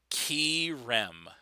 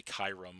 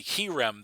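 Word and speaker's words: Kyurem: I always my my my knee-jerk reaction is to say Kyram. I don't know why, but you know, we all know that's wrong. Anyway, um but it was the uh the Krem that uh put in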